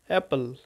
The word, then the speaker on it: অ্যাপল: Apple, আপেলের উচ্চারণটা হবে অ্যাপল, আপেলের উচ্চারণ হবে অ্যাপল, APPLE, অ্যাপল।